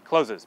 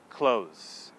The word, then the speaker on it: clothes: hear native speakers say closes because we don't pronounce it that way we pronounce it close so what's really happening